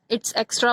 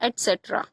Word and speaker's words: etcetera: कोई इसे इट्स एक्स्ट्रा बोलता होगा, एटसेट्रा बोलता होगा, बट इसका सही प्रोनाउंसिएशन है एटसेट्रा।